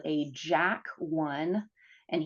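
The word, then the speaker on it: JAK: is what's called a jack one and here Jack is spelled j a k and a tick to tyk uh inhibitor so those two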